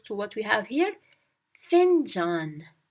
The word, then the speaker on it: fincan: Fincan. Fincan. Remember, in Turkish, the letters are pronounced differently than in English. So we have to twist the words that are in English so that we get the right Turkish word. Fincan. Find John. Fincan.